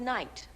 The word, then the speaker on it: night: only one thing wrong it's the word night I know it sounds like ni te but we spell it n i g h t night okay I can never